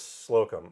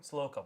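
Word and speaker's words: Slocombe: Douglas Sloum. Slokum. Okay. Oh, okay. I mispronounced his name.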